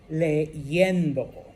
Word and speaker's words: leyendo: And it's ella está, and we pronounce it as a Y, leyendo.